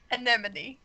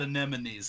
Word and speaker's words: anemone: Because there was that thing where it was like, you don't want to make an enemy out of your anemone.